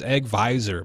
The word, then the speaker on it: AgVisor: or not egg Vision have I been saying it wrong this whole time it's egg visor man it's a Thursday